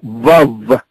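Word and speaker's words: וָו: Pero no me recuerden el nombre, es la letra Vav, se pronuncia Vav.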